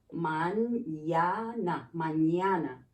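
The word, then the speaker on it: mañana: n here but here when you add the tilde that's a different sound it says if i were to write it for you to pronounce it it would be mine now this is incorrect spelling but if i wanted you to focus on the pronunciation you can look at this there's a y there ma na and that is tomorrow okay let's continue oh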